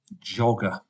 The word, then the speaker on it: jogger: but slowly Jog and if I just put ER it would be yoga we know the word Joker so we must keep the Oh short not an O but a short o so we put in a double G jogger bright well there is